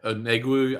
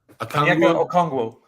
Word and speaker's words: Okongwu: his name, Atlanta guy, Onegwu, I think you said it was. Did I get close? Okongwu.